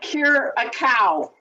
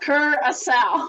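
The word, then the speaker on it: Curaçao: Now, guys, when you see this word, it is not cure a cow. Okay, it's pronounced curacao.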